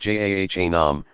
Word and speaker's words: Jahannam: Jahannam, pronounced Jahannam, represents the state of refusal to acknowledge God's sovereignty.